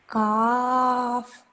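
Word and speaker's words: ك: Okay, now is this a thick or a thin sounding letter? Can you tell me? Thin. Thin sounding letter, exactly. And how should I pronounce a thin sounding letter? With a smiling face or a round face?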